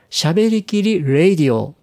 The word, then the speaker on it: しゃべりきりRADIO: いるんですけども正確にはですね喋りきりレイディオですというふうに発音していただけると嬉しいんですがこれはもともと